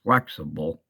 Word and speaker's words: Flxible: the flexible company but it says here it's actually you're supposed to pronounce it as flexible and this is Opa